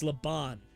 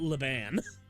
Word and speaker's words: Leon: I've been saying it wrong. It's Leon, not Lean.